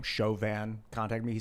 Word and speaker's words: Chauvin: I heard that a French guy, or a guy with the last name Chauvin, contacted me. He said that the name is pronounced Chauvin.